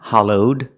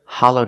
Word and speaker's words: hollowed: say it's hollowed out pronounce the Ed with a D sound hollowed link it with the next word out together hollowed out this this is